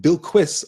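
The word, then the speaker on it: Bilquis: are okay yeah yeah they are pronouncing it bill quis on the show uh to answer Valerie's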